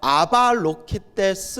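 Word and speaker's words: Avalokiteśvara: 사람들 은 이 를 " 스바라 " 또는 " 슈바라 " 라고 발음 하지만 , 대략 적 으로 는 아발로키테스 바라라 고 발음 합니다 .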